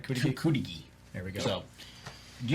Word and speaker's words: Cudighi: He's familiar with Cudighi. Is that how that's how you pronounce it, right? Cudighi? Cudighi.